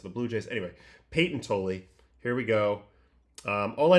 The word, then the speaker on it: Tolle: But Peyton Tolle. I keep calling him Toll, and I'm sorry about that because I've seen the announcers, and they definitely pronounce it Tolle.